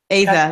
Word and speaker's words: Aza: Aza. That's how John Green pronounced it when he read it on tour.